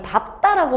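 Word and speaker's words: 밟다: 밝다라고 발음하니 밥다라고 발음하니, 이거 밝다라고 발음하는 친구들이 많은데 얘는 밥답니다. 밥다.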